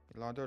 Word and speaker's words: Elandor: E. Lan. E. Dor. Is that hyphenated? No, I was just saying it slowly because sometimes people say it wrong. Okay. All right. Elandor, last name Elandor.